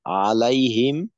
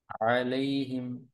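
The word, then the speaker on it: عَلَيْهِمْ: আলিফ টান হবে আচ্ছা আলাইহিম আলাইহিম এখানে লিনের হরফ আছে পাতলা করে পড়তে হবে লাই আচ্ছা পাতলা বলতে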